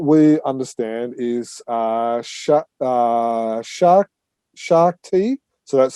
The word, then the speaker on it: Shakti: that but what we understand is uh shark shark t so that's spelled s-h-a-k-t-i comics um has announced it my wife's got